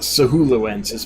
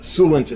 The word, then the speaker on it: suluensis: Sulensis, not Sahuluensis, but Sulensis, Skull Creek.